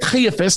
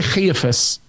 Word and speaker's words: Caiaphas: There's a lot of people that conflate what we say Beit Caiaphas, the house of Caiaphas, with the Antonia Fortress.